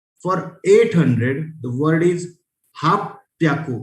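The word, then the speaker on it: はっぴゃく: For 800 the word is hap pyaku. It's not hap. Happy नहीं है इसका pronunciation. It is hap pyaku.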